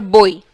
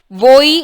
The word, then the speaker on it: voy: Voi or boy. Voi is better. Voi. You see how am I pronouncing Y as E?